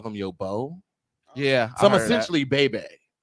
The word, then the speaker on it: Beau: But came from, I guess back in the day, if that was your bae, you would call them your beau.